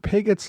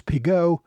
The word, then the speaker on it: Pigot: And while I'm at it, I, in some earlier episodes, mispronounced General Robert Pigot's last name as Pigot, which is the French pronunciation. Since the family's been living in Britain for several generations, it's become Pigot, and I should have known that.